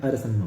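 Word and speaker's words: ersemma: और उस अध्याय में उन्होंने ये पंक्ति कही है और क्या कहा है, इरसम्मा, मतलब इसका उच्चारण अरसम्मा होगा, ई से शुरू है, अरसम्मा अर्थात ब्रैकेट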